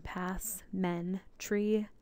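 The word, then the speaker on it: passementerie: detailing um pass mry is a French word this is the Hooked on Phonics pronunciation pass men tree spelled as such here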